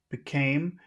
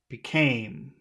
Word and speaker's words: became: words uh became okay became and where's the accented syllable in that word became B second okay the second one all right yes became